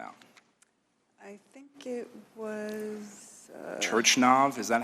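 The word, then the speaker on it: Turchynov: Turchinov, is that how you say it? Turchinov, thank you for helping me. Turchinov, okay, excellent.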